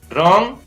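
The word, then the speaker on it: wrong: इसी प्रकार WR से शुरू होता है तो उसमें भी W का उच्चारण नहीं होता है, तो इसको पढ़ेंगे रैप, रॉन्ग, wrist, wrinkle, रिंग।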